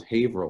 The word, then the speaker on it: Haverhill: Yeah, well, and not to correct you, but it's actually, this is what we pronounce Haverhill, which is a weird Massachusetts thing, because it's Haverhill is a town that I grew up in.